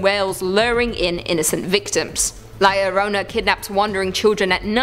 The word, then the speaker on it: La Llorona: Hailing from Hispanic folklore, La Llorona, which I'm pronouncing correctly now after you guys yelled at